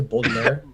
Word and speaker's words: Baudelaire: How do you say Baudelaire?